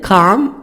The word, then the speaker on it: calm: Dead Calm, L silent, because I have A before L, calm.